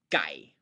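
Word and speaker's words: ไก่: first of all that why I think it should be spelled G and not K, because if you spell it with a K, the tendency of the learner is going to be to pronounce it as exactly that, a K.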